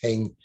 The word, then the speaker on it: Heng: It's not it's Ong, but the Teochew will pronounce it as Heng.